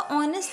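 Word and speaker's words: honest: यहां पे भी आपका ऑनेस्ट है। ऑनेस्ट नहीं बोलेंगे। एच क्या है आपका? साइलेंट हो जाता है। याद रखिएगा इसे आप ऑनेस्ट बोलोगे।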